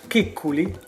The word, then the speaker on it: Kikkuli: but let's see the interview together the correct pronunciation Kikkuli is a distant master Mittanic population is geographically